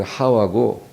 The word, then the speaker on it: 하와: 하와가, 이 하와라는 것은 히브리어로 말하는 발음이에요. 히브리 발음은 하와고 영어로 하면 이브라고 그래요. 근데 하와가 더 정확한 말이죠.